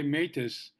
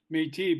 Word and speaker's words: Métis: And, you know, people in America might say Métis, not knowing that it's kind of a French word where the last letter isn't always pronounced. So Métis, but tell us a